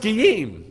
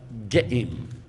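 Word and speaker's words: גאים: But it's not even pronounced Giyim. So this is really confusing. When they read it in the Torah, there's no way to know how to do this properly unless you're taught. Because it's not written properly and it's not said properly. It's pronounced like Ge'im. Say Ge'im.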